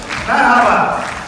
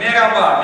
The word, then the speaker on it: Merhaba: Merhaba. Как вы говорите по-турецки привет? Мераба.